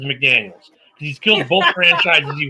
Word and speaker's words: McDaniels: No, it's not Josh McDaniel. Got to say his name right. Josh, I kill franchises McDaniels.